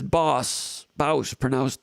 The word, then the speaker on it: Bouse: Bruce Main says Bouse, pronounced like sauce, but with a B.